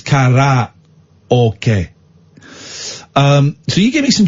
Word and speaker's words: karaoke: It's not karaoke, it's karaoke.